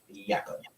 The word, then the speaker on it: Jakob: If he was from Estonia, then his name would be pronounced Jakob. Was I calling him Jacob? Yeah, Jakob is actually how you pronounce Jacob.